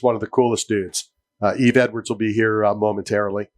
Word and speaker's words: Yves: twin brother Dean Thomas it's not not Eves it's not Den it's den and EV what Eves EES you